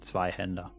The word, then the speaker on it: zweihander: gore ah for once i know how to pronounce zweihender yeah it is sort of a contradiction in